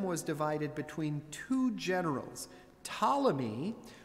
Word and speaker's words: Ptolemy: After Alexander's death, his kingdom was divided between two generals, Ptolemy, with a silent P, and Seleucus.